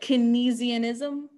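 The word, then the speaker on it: Keynesianism: the 1970s next we're going to look at kinesianism that's not a fun word to say out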